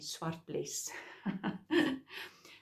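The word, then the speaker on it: Zwartbles: Swartbles is easy for us Afrikaans speaking people to pronounce because it's a Dutch sheep that is now also breeded in England. So that's why I think English speaking people or American speaking Americans find it a little bit difficult to pronounce the word or say the word, but because it's Dutch, it's easy for Afrikaans speaking people to say Swartbles.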